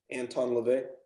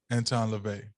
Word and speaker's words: Anton LaVey: and time like uh what's his whole name Anton Lavette Anton LaVey Anton LaVey because what's interesting like his church